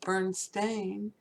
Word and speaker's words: Berenstain: you know somebody who originally wrote it Berenstain ste i n and then it got changed to stain sta i n both pronounced the same way you know it's just